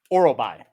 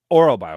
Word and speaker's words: Orolbai: Orolbai. Orolbai.